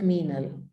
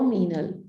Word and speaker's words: Meenal: For Meenal, simply write me, M-E-E, right? That's how I always call myself. You write to me as me. And so for Meenal, simply me.